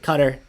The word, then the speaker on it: Qatar: as well in that some people want to pronounce it cutter mainly the British pronunciation that I hear the commercials that we hear here in the US for Qatar airlines say it has